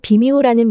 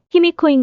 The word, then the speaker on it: ひみこ: 그러나이 비미호라는 명칭은 외인들의 발음인 희미코를 한자로 표기한 것에 불과한 것으로서 그 본래 발음은 히미코인 것이다. 야마데 즉 야마토국의 여왕인 히미코에